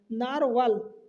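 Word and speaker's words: Narwhal: पहले नाम ध्यान रखना नारवाल अब इसका नाम आप प्रोनाउंसिएशन देख लो नार डब्ल्यू एच ए एल तो नारवाल आप पढ़ सकते हो एक सबमरीन है जो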